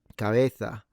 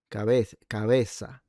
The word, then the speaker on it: cabeza: But another one would be cabeza or cabeza. It's th or s rather than ts.